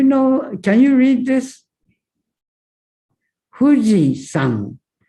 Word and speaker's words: 富士山: Fuji-san. San is onyomi. Okay. But there is a kunyomi, Japanese reading. San is closer to Chinese pronunciation.